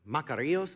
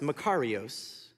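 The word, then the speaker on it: μακάριος: used as scripture I like to call it maros because it sounds like makarena and I start to dance but it's actually pronounced macaros and many will tell you it could actually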